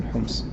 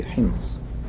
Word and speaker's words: Homs: in his house in Homs. So in English and in colloquial Arabic we say Homs, but when we pronounce it in Fusha we must say Hims.